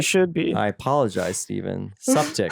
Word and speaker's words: Suptic: Suptic. Suptic. That's how you say it, it's just septic, yeah. Suptic, yeah.